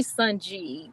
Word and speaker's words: Sanji: I say Sunji because I don't see the A on the end.